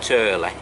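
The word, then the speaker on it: Tyrley: Like I said, it's pronounced Turley, and this has quite a fierce bywash on it if you're not used to it, with a sandbank on the left.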